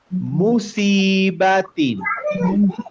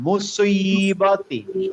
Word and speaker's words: مصيبة: as-সমাদ, الصمد মুসিবাতিন। مصيبة এখানে সয়ের উচ্চারণটা গোল, একটু গোল হবে, তাহলে মুসিবাতিন। مصيبة সায়ের মতো উচ্চারণ হবে না, মুসি হবে না, মুসিবাতিন।